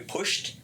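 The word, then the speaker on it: putsch: Been pushed? Pushed is the formal definition of what occurred on January 6th. How you spell that? P-U-T-S-C-H. It's German. It means a coup without the support of the military.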